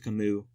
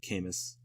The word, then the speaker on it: Camus: credited with absurdism is Camus like because it's French the u.s. is like the S is silent so yeah it's actually Camus instead of Camus but I think Camus